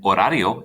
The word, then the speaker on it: horario: let's say me and horario is the word schedule remember that h is a silent letter in spanish so you don't say it it'd be the same